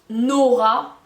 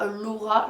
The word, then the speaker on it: Nora: Nora et pas Laura, je prononce mal qui sont suédois.